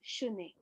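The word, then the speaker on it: শুনে: Here also shune, sha. In Hindi we say sune, right? Sune means here. Because it's Bengali, it's shune. Bengali pronunciation is different, right?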